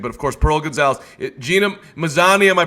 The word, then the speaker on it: Gina Mazany: Roy Jones, Anthony Pettis, everybody we're mentioning, but of course Pearl Gonzalez, Gina Mazany. Am I pronouncing that right, Pearl? Yeah, Gina Mazany.